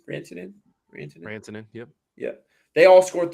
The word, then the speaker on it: Rantanen: Rantanen, yep.